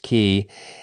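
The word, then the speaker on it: Quay: We left Suffolk Thursday at daylight and marched towards South Key, pronounced Key, and the first night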